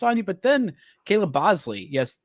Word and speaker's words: Boushley: He gets 9 strikeouts on you, but then Caleb Bosley. Yes, it's spelled BoushleY. It is pronounced Bosley.